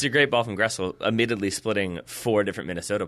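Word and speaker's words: Gressel: I think it's uh Guessel. Gessel, is that how you pronounce that? Grestle.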